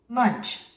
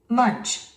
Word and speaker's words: Munch: 우리는 이 단어를 뭉크라 하죠. 노르웨이 미술가의 유명한 에드바르 뭉크. 그죠? 죽은 나를 그린 자화상. 유명한 자화상 이름이 절규라는 작품이 있죠, 여러분들. 그죠? 에드바르 뭉크라고 하는데, 원어민들은 이렇게 발음을 합니다.